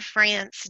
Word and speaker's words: Frantz: time is is Laura France dotnet any tea okay kinda rest okay and your last name sounds like the country France but is actually spelled